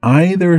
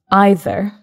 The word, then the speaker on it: either: So what I noticed here was you, Mark, you pronounce the word either, as you did. Mm-hmm. Naturally, I would pronounce this word either. Okay. And that's absolutely fine. Some people say either, some people say either. It's like the song. You say either, I say either, let's call the whole thing off.